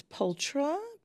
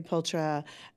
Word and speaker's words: Pulchra: Yeah, it's ptra. Uh, so in the US they say ptra. In Europe it's pulra.